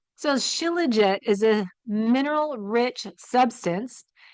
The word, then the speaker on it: Shilajit: going to remember that so this sounds really nerdy but too legit to be that's how I'm remembering how to say it right so chillet is a mineral Rich